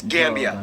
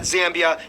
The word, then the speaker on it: Gambia: up the before gambia it's gambia not zambia not gambit not get bia as in bob said get via gambia i don't know